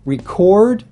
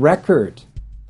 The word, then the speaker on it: record: My fourth one has to do with word stress on different parts of the same word, which will change its meaning. Some good examples are record and record. So you can see that depending on the context of the sentence, you need to either use a noun or a verb.